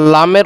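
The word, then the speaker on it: لام: calf calf তারপরে কি লাম লাম আর লামের উচ্চারণ কোথা থেকে হবে যে জিহ্বার আগার কিনারা জিহ্বার যে আগাটা আছে তার কিনারা সামনে সামনের উপরের দাঁতের মাড়ির সঙ্গে লাগাইয়া সামনের উপরে যে দাঁত আছে ওই দাঁতের মাড়ির সঙ্গে লাগাতে হবে তাহলে লামটা কিভাবে উচন হবে লাম লাম তারপরে কি মিম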